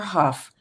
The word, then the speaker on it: Hough: she said jennifer huff and i mispronounced her name her name is jennifer huff she was victimized by kenneth perry when she was 16.